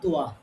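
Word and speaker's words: ط: ১ নম্বর হচ্ছে তা আর তোয়া। তো এইটা যখন পড়বেন, তা পড়ার সময় তোয়া এর মতো পোর করে পড়া যাবে না, বরং তাকে সবসময় বারিক পড়তে হবে, তোয়াকে সবসময় পোর পড়তে হবে।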